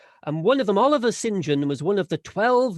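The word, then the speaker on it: St John: to legend by uh one of the sinjian family spelt saint john but pronounced sinjian and one of them oliver sinjan was one of the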